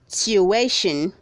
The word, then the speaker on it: tuition: Read 417 is pronounced as tuition. Say tuition. Don't say tuition. The word has 3 syllables, not 2.